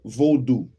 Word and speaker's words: Vaudou: ritual dance called the Vaudou. The Vaudou. Vaudou. The Vaudou. Yeah, there you go. Vaudous. The Vaudou. Because roux is spelled R-O-U-X. Roux. So it's do. It'll be do at the end.